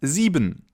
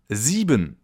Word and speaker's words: sieben: And then we have 7, or in German, sieben. Sieben. The letter combination I-E is pronounced like a long E sound, as in double E in English, sieben.